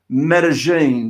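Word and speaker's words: Medellín: You know, you've been out there for so long now, I think I can actually pronounce Medellin.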